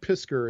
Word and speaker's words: Piskor: And I noticed that Ed Piskor, is that how you say his name? Ed Piskor?